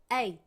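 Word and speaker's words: eight: 8시는요 8 한번 더 에잇 그렇죠 자 여기서 우리 주의해야 될 거는요 여기 요거 gh는요 발음 안 하는 거 그죠 쓰기는 반드시 쓰되 발음이 나지 않는다라는 거 기억해 주시면 좋을 것 같아요 자면 8시가 되겠죠 시간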